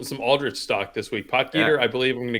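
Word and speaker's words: Potgieter: do we say his name will it's Aldrich potger I just call him Aldrich he's on my list I definitely uh I want some some Aldrich stock this week poer I believe I'm going to go with um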